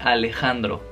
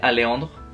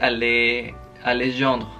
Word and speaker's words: Alejandro: Se me hace muy chistoso porque la J les cuesta mucho trabajo pronunciarla, la J. Y obviamente hay gente que la omite y me dice Aleandro. Hay gente que me dice Alejandro.